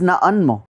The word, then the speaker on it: na'anmo: La pronunciación de la palabra que precede también cambia. Como por ejemplo, nombre solo es na'an y tu nombre es na'anmo.